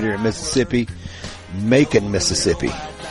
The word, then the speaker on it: Macon: Homegrown and produced right here in Mississippi, Macon, Mississippi. Any town that rhymes with bacon is beautiful to me.